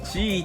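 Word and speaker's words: 七: you i need ならは中国語でチと読みますから I need ロキは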